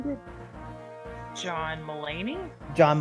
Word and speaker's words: Mulaney: do you say his last name group john mullaney john mulaney it was like him with his like [